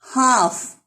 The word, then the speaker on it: half: Half. L is silent.